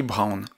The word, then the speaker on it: Browne: Et aussi, et on en arrive au cœur de ce podcast, un auteur incroyable, qui est Harry Browne. Donc Brown, ça s'écrit B-R-O-W-N-E.